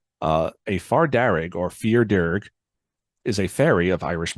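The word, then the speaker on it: fear dearg: A far darrig, or fear darrig, is a fairy of Irish mythology. The name fair darrig is an Anglophone pronunciation of the Irish words meaning fear darrig, meaning red man, as the far darrig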